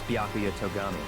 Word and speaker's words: Byakuya Togami: How to pronounce it for me? Name's Byakuya Togami. Byakuya.